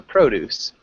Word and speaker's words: produce: then produce produce yeah produce so there's the verb to produce and then there's produce yes so you're right produce sounds like juice and produce which is the noun is just produce okay and let's have